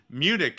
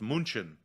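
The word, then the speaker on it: München: if we're talking about like cities that are mispronounced by Americans or English speakers Munich is one of the biggest ones which I've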